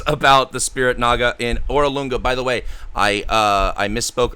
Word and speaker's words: Orolunga: Artist Simber also knows about the Spirit Naga in Orolunga. By the way, I misspoke earlier. The Spirit Naga Saja is not in Obtau. It's in Orolunga.